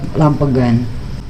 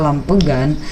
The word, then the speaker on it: Lampegan: Dan biasanya kalau orang Sunda dia menerobos lamp again, lampegan, ya begitulah pokoknya.